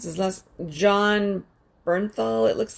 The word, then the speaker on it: Bernthal: pronounce his last john bernthal it looks like yeah that would be bernthal that's b-e-r-n t-h-a-l i went to